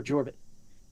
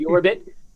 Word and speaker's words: Jorbit: My brother speaks Spanish from a Spanish-speaking church mission. He said it's Yorbit. So that is a Puerto Rican name, or Dominican, whatever it is. So you don't pronounce Ja as Ya. So Yorbit. So let's see, any we missed.